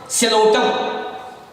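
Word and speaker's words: Psilotum: For example सिलोटम. सिलोटम पी जो है ये साइलेंट रहता है.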